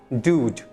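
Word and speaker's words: dude: आउट यर है ना pronounce well ड्यूड ड्यूड viewed मत करना ड्यूड ठीक है हाई ड्यूड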